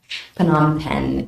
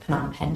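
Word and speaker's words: Phnom Penh: took me a while to learn if to spell that correctly PanAm pen is the capital city and that's where the US Embassy is located in the capital city of PanAm pen Cambodia uh so FBI Dallas contacts you and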